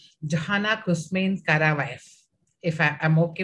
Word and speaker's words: Johanna Kouzmine: this part of the country i'll try to spell it right johanna kushmein kara if i i'm okay with their name